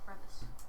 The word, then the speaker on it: crevasse: might dig quite a crevasse, or it might Crevasse? not. Yes, a crevasse. Crevasse. I thought it was pronounced crevice. It can be pronounced both ways.